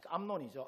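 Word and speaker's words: 암논: 첫째 아들 암놈이 아 암론이죠. 암론 발음을 잘 보면 암론해요.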